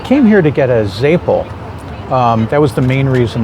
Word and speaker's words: zeppole: Joseph's Day, everyone has to get a Zeppole. I think in most places they pronounce it Zeppole.